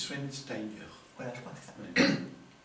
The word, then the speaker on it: Schweinsteiger: C'est pas Schwarzenegger, et c'est pas... moi, j'ai eu un mal fou à Non, prononcer. c'est Schweinsteiger.